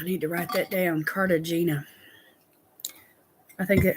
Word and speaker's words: Cartagena: Cartagena. Hania. Oh, it's the G is pronounced like a H. Okay. Like the city in Colombia. See, I learned something, Ruth. That's awesome. Cartagena.